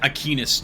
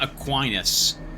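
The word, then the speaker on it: Aquinas: I like that they pronounce these things differently, cuz I would pronounce it Ainus, too, not Aquinus.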